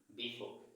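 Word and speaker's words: before: silent রাখবো সেই নিয়মের আলোকে এই জায়গাতে সেটার উচ্চারণ হবে বিফোর তাহলে বিফোর অর্থ আমরা অর্থটা ওই জায়গাতে একটু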